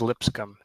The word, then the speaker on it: Lipscomb: It's pronounced as Lipscomb, Jeff, first of all.